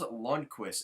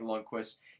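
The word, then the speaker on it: Lundkvist: So we're looking at Nils Lundqvist, and believe me, it's as crazy as it sounds. It sounds exactly like Lundqvist. It's spelled a little differently, but it's just funny that he has pretty much the same name.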